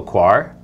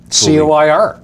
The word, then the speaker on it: coir: we're going to grow 2 plants in coco coir for the growing medium and 2 plants in pure carbons. I know how to spell coir. Well, C-O-I-R.